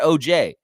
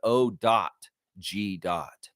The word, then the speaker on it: OG: respect Anunoby, you put O.G. You want to do it right. You want to say it correctly. You want to have respect for him. You put O.G. It's not O.J. Simpson, guy.